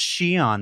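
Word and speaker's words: Xi'an: And if your instinct was to stop the YouTube video and go immediately to comments and say, it's pronounced Xion, Mark, get a better hobby.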